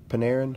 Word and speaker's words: Panarin: Panarin?